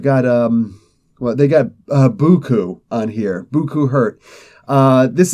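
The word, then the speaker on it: beaucoup: but here it's it's it's spelled like it's beaut but it's buku and I know everybody's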